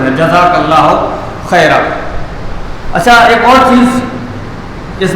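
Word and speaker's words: جزاك الله خيرا: تو خیرا یہ صحیح تلفظ ہے، یہ صحیح تلفظ ہے، جزاک اللہ خیرا.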